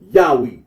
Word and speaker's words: Yahweh: The scholarly consensus is that the original pronunciation of the Tetragrammaton was Yahweh.